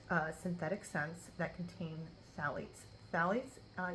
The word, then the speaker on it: phthalates: synthetic scents that contain Sally's Sally's uh you say with the th but it's spelled p uh phth now it's um their